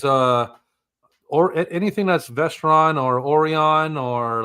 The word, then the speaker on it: Orion: Okay, it's Orion. Yeah, like the constellation. Yeah. I mean, it's also Orion, however you want to say it, man.